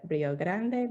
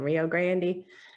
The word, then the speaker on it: Rio Grande: Or like the Rio Grande Valley. It's clearly the Rio Grande, but people in Texas say the Rio Grande.